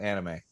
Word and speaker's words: anime: Anime. Anime. An No, it's pronounced anime.